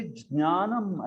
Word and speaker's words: ज्ञानम: तो लिटरली ज्ञानम ऐसा उच्चार होना चाहिए उसका, ज्ञानम, ज और ज्ञ, ज्ञानम, ज्ञानम ऐसे। तो एकदम परफेक्ट प्रोनाउंसिएशन वाले पंडित आपको देखेंगे तो वो ऐसे बोलेंगे इसको, ज्ञानम। मराठी वाले बोलेंगे ज्ञानम, वो DNY, ज्ञानम ऐसे बोल देंगे, वो भी ठीक नहीं है।